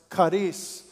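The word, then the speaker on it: χάρις: God in his grace that word is Kus or pronounced Karis and it carus is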